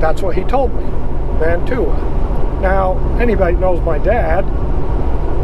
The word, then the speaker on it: Mantua: canyon now going through mantua now before everybody says oh man he don't even know how to say it i know how to say it it's man away but the story behind